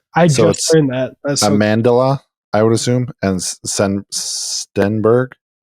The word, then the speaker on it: Amandla: I'm gonna mispronounce her name, and I apologize because it kind of looks like Amanda, but it's got an L at the end of it. I just learned that. That's Amandla, I would assume, and Stenberg.